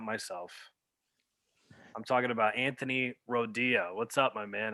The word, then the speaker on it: Rodia: Everybody calls me like Radio, Rodia.